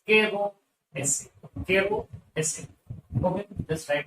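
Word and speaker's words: Caro's acid: Keroz acid. Z is silent, so the name is Kero acid.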